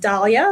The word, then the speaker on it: Daliah: So, um my name is pronounced Dalia.